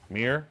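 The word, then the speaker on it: Myr: Mir? Is that how you pronounce it?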